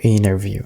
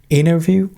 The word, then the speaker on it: interview: the job interview okay it is interview or interview both of them are correct interview or interview remember we talked about anti syllables in the middle of a word okay usually the t becomes a silence so you say interview okay i'm talking about american accent but in a bridge